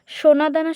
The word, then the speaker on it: সোনাদানা: সোনাদানা শব্দের প্রমিত উচ্চারণ সোনাদানা, এটা হচ্ছে বানান হচ্ছে দন্তস্বয়কার দন্তনাকা দয়াকার দন্তনাকা সোনাদানা। আর এর প্রমিত উচ্চারণ হচ্ছে তালবস্য ওকার দন্তানায়াকার দয়াকার দন্তানয়াকার সোনাদানা। এইখানে দন্তস্বয়কার আর এখানে হচ্ছে তালবস্য ওকার, আর সবগুলো একই। বলি ও লিখি।